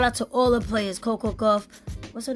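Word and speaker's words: Coco Gauff: Venus Williams shout out to all the players Coco go what's her name Coco Coco go yeah Coco go I said it right all the other players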